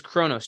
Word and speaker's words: chronos: One would be called kairos time, or kairos time, which is spelled K-A-I-R-O-S, kairos time, versus chronos time.